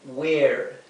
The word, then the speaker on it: were: Z I was You were You were Aquí esta esta e la segunda e es muda la primera e que